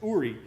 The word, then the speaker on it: Uri: In early summer 23, we met with a really interesting company called Uri. It looks like worry, but it's pronounced Uri.